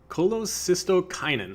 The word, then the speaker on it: cholecystokinin: genic effect via cholecystokinin I think is cholecystokinin I believe is how you pronounce that anorexia genic just means